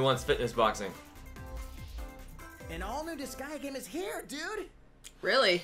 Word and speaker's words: Disgaea: fitness boxing an all-new disgaea game is here dude really oh that's how you're supposed to say it i've been saying it wrong for years i think i always said dis gay uh huh i didn't